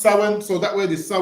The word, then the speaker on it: Samhain: ha so it's about Sam ha but it's pronounced sin so that word is sa sin yeah go